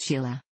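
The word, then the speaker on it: Sighle: All five of his children were with Anderson: Bill, who became an actor and screenwriter; James, Susan, Joanna, and Sayal, pronounced Sheila.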